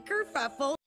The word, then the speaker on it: Kerfuffle: I'm Kerfuffle. Kerfuffle. That's a different name. I'm Kerfuffle, spelled like it sounds with a double for the fuff.